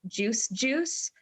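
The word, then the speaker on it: Juice=Juice: of the group uh pronounced juice juice but their uh their spelling is juice equals juice hell yeah yes and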